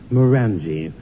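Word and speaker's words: Glenmorangie: enjoy getting plastered on Glenn morange whiskey which in the south is pronounced moranji where she sort of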